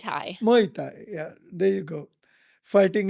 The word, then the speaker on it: Muay Thai: How do you Muay pronounce- Thai. Muay Thai.